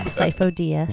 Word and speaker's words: Sifo-Dyas: Yeah, Sifo-Dyas. Yes. Nope. It's spelt really weird.